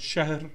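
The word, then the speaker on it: شهر: than one thousand months now the word shah in arabic sounds like the word shahr which means month but it's actually derived from the root shahara which means to expose which means to proclaim so it sounds exactly the same as the word for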